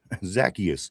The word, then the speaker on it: Zacchaeus: Somber says, Zacchaeus. Zacchaeus is the correct pronunciation of that name.